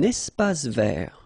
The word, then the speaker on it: espace vert: Un espace vert. First thing, you get this little link between the two. Un espace vert. Final E not pronounced, and then final T not pronounced.